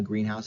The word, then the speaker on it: greenhouse: A greenhouse is a place, right? But if we say greenhouse separately, you'll notice that the greenhouse, the accent's on the house more, right?